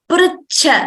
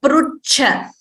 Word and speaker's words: पृच्छ: And also the pronunciation is pritcha, not prucha. There is no ukara there. It is not pra with an ukara. It is rkara, the swara r. So pritcha.